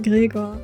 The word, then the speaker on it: Gregor: If he's from Mondstadt, you pronounce his name Gregor, by the way.